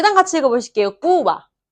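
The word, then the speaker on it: Cuba: 제가 그럼 어떻게 발음했죠? 꾸바라고 안 했죠? 꾸바. 꾸바. 이렇게 하면 좀 있어 보여요. 좀 있어 보이지 않나요? 꾸바보다 꾸바. 좀 있어 보이지 않나요? 그래서 배는 항상 이 입술을 마주친 다음에 살짝 이야기를 하시면 항상 연습이 좀 필요해요.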